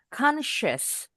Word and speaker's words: conscious: Ini hati-hati bukan S juga, tapi SH. Bunyi S kayak ban kempes. Bunyi SH. Bibirnya rada monyong. Conscious.